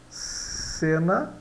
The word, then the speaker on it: cena: Eh, então vejamos aqui o C nessa sílaba C, ele vai dar C. Cena dá cena.